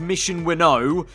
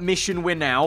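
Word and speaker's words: Mission Winnow: know liveried ferrari car it's definitely going to be pronounced mission we know i want to say it's definitely not mission we're now because we ain't going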